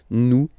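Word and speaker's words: nous: Okay, you just pronounce this O N this nazal. Okay. And then the S final S is not pronounced new.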